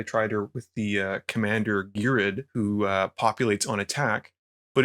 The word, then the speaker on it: Ghired: I've always pronounced it Ghired.